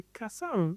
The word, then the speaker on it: Kassav: c'est Marquis Miller qui me dit non c'est Cassav ouais c'est ça et puis il dit Cassav Cassav et lui c'est là où tu vois